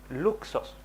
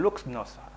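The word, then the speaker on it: λύχνος: Es la palabra luxos, ¿ya? O algo así. No, perdón, luxnos, así se pronuncia, y es la palabra lámpara.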